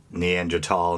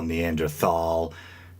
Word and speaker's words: Neanderthal: it's kind of funny maybe you were raised like myself to pronounce neander tal neanderthal and crom Manion crom magnon uh but seems over time the accepted and probably proper pronunciation is neander tal and crrom Manion uh chroman being the proper French pronunciation I believe but anyway even